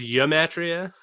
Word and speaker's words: gematria: gravy so uh uh gematria in this sense is literally just uh that's pronounced yamatria it's just it's just wish